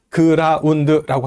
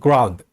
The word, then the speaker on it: ground: 영어의 그라운드가 몇 음절일까요? 영어의 그라운드는 1음절입니다. 자, 그러면 1음절이라는 얘기는 뭐예요? 그부터 드까지 발음하면서 중간에 쉼이 없이 한꺼번에 발음돼야 된다는 얘기예요. 그래서 그라운드라고 하면은 영어 발음이 아니고 이건 콩글리시 발음입니다. 영어로는 ground, ground까지 한꺼번에 이어서 발음을 해야 돼요.